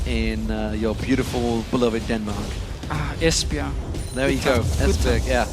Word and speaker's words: Esbjerg: Esbjerg. There you go, Esbjerg, yeah. It was actually one you went to. Pronounce it? I said Esbjerg.